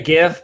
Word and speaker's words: GIF: or gif gif gif i say gif but that's only because i say it correctly right so um we